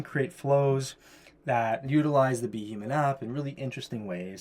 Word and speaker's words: BHuman: with custom pronunciations so for example be human normally You' pronounce it if you just read it phonetically boomman right but we want to pronounce it as be human so I had to